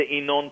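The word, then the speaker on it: Yinon: In 1981, and your listeners are welcome to listen to it, we learned about the Inon plan.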